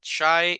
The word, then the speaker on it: shy: Shy is tímido, right? Shy se pronuncia así, shy, como que si fuera una I larga la Y, ¿ah?